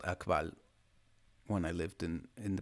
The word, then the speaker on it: Akbal: Now for the Peninsular Maya, it's Akbal, Akbal, no apostrophe. I had a little cat called Akbal when I lived in the peninsula.